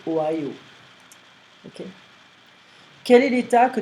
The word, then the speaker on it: Ohio: We don't pronounce the H in French, so in French we're gonna say Ohio.